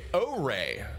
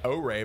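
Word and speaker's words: Ouré: And that was a first look at O-Ray. O-Ray, by the way, is how that's pronounced, if you were wondering.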